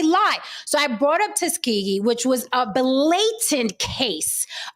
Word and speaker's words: Tuskegee: say it again I'm going to say everybody Tuskegee there's a king there I got it Tuskegee I did it okay based off of that